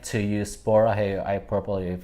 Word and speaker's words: 보라해: Borahe Borahe. I mean, you pronounce this 보라해를 Borahe.